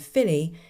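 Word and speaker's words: filidh: And Filly is an Irish word, so it is spelled f i l i d h.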